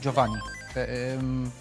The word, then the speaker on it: Giovanni: This is Giovanni, actually. You pronounce it Giovanni. Deimos, the Italian player, taught me that.